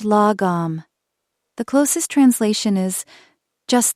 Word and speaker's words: lagom: The second concept is lagom, pronounced lagom.